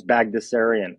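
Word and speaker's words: Baghdasarian: letters in it but it's actually relatively simple to pronounce it's bagdasarian so uh I'm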